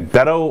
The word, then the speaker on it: Beto: So, how do you pronounce his name? Is it Beto? I've heard it Beto. Beto? Okay, Beto O'Rourke.